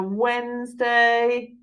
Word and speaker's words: Wednesday: this is difficult and it's got this D in it so it's wet Ness day ok so again if you say it as you spell it you've got weird nest day but we say Wednesday that's why it's a